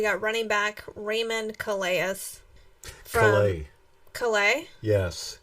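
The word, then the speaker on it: Calais: running back Raymond coleus Calleigh yes he pronounces his name different than Chloe Campbell okay let's go to nope he is from Louisiana so he uses the French you know what okay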